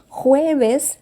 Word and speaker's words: jueves: Jueves, lembrando, palavrinhas com J, sempre tem som de R, então eu pronuncio jueves. Jueves e o Vzinho, som de B. J, som de R, V, som de B.